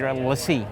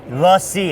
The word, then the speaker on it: LaCie: And I pronounced it right? LaCie. LaCie, it's LaCie, French for the company.